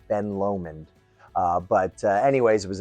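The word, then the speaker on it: Ben Lomond: Uh, I just learned that that's the proper way to uh pronunciate. Uh, I always called it Ben Lamond. I don't know if that's just my New Yorker in me, but uh it's it's called Ben Lomen.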